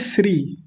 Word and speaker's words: श्री: कुछ लोग इसको क्या बोलते हैं? श्री। श्री श्री यानी ये वाला स बोल देते हैं।